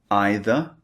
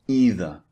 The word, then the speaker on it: either: And you can say either or either. Slightly different.